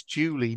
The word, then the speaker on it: Julie: When he said this to me, I said, it's Julie, not Dewey.